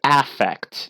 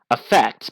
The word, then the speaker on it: affect: a psychological term so it would be pronounced affect not if not effect but affect yeah exactly affect but that's a very